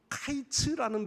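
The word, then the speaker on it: קַיִץ: 여기에서 여기 본문의 말씀에 여름과일은 카이츠라는 발음을 해요. 카이츠. 그런데이 발음하는 카이츠와 그 뒤에 보면은 2절 끝에 내 백성 이스라엘의 끝이 이르렀은즉 할 때 끝에 대한 단어가 캐츠 이렇게 돼 있습니다. 히브리어의 발음에에 바로 카이츠라는 단어와 캐츠라고 하는 단어를 가만히 들어 보면요. 같이 들려져요. 즉이 광주리에 담긴 열매가 달달콤하고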